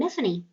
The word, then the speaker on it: Miffany: giant bug woman named miffany you pronounce that name uh like tiffany but with an m so uh and here